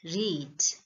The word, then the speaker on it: read: But when you want to say the past tense, I have read this storybook. I have read this yesterday. So the pronunciation changes. The spelling remains same, but the pronunciation is different. Read, read. Read is past tense, right?